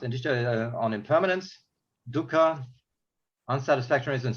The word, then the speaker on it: anicca: Okay, so Vipassana insight knowledge is concerned specifically with the 3 general characteristics of conditioned phenomena: anicca, pronounced anicca, on impermanence; dukkha, unsatisfactoriness and suffering.